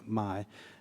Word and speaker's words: My: Yeah, they're not on tour with Larry the Cable Guy, but they are named my pronounced me of course, but for us they they let me say my.